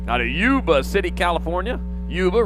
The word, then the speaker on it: Yuba: Yuba rhymes with tuba.